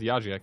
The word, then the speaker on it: Yajak: And yeah, he's actually called Yajak, not Yajik.